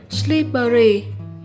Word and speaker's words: slippery: Mình xin được nhắc lại là đây là một tính từ và đọc lại từ này là slippery. Nhấn âm 1 nhé.